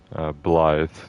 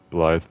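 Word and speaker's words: Blaidd: That's where you initially meet Blythe, which they're all pronouncing it Blythe, even though it's got two D's at the end. There's no TH, so I don't know how they're getting that, but everyone's calling him Blythe.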